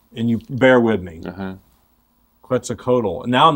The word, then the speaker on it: Quetzalcoatl: have been expecting to come how do you pronounce it quetzalcoatl but they prophesied that this being quits a